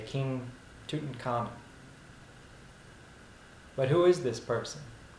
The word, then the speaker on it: Tutankhamun: Another interesting fact about this pharaoh is the way that we pronounce his name most of the time is incorrect. We're used to calling him King Tutankhamun, when in fact his proper pronunciation is King Tutankhamun, which translation is the living image of the god Amen.